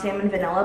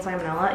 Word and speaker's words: salmonella: Also, I know that it's not actually pronounced salmon vanilla, but I think it's funnier calling it salmon vanilla than calling it salmonella, you know?